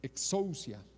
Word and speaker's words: exousia: Con S, exousia.